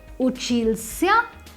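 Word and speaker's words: учился: For masculine form, the past tense of uchitsa would be uchilsya.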